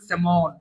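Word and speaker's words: salmon: স্যালমন কিন্তু উচ্চারণ করবে সেমন ঠিক আছে এটা কিন্তু এল টা উচ্চারণ হবে না ক্যানন তো এই ওয়ার্ডগুলো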